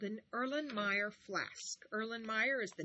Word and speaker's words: Erlenmeyer: l e n m e y e r erlenmeyer flask f l a s k and that's pronounced erlenmeyer flask number eight small pinchers for